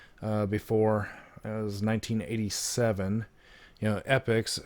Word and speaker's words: Epyx: as 1987 you know epochs it's spelled Epyx so not really sure